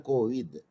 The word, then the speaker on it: Kovind: Sabita Kovind or Kovid. So anyway, that is the pronunciation, but the spelling is the Kovind.